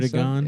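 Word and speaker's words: Erdoğan: Erdogan. Yeah, that's his name. That's how you pronounce it.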